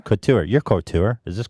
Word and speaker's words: couture: your your cart or court or a court or or sure how do you say it Couture Couture your court or is